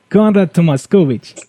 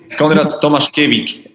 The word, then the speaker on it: Tomaszkiewicz: Okay. Tomas kovich. Is this right? Not really. Thomas kic.